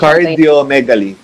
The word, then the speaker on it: cardiomegaly: Nagka-diomegaly? Tama ba yun, Doc, yung pronunciation? Cardiomegaly. Cardiomegaly. Yeah. Cardio, wala kasing R.